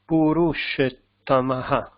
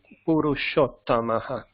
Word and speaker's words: Purushottamaha: Purushetamaha. Yes. Purushetamaha. Purusho. No, Purush. It's not A, it's O, of course. Purushottamaha. Yes. Purushottamaha. So this is a, yeah, right. It's a double T.